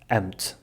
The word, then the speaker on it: amo-te: Because we say "amo-te" (I love you) but the way we pronounce it becomes, “amt”.